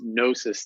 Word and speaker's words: Gnosis: er AP y comm which is gnosis therapy with a silent G there so G nos is